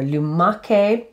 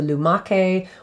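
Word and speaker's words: lumache: so luma koni or lumake and i'll spell that l-u-m-a-c-h-e remember again that c-h is a hard k sound so lumake or lumaconi meaning snails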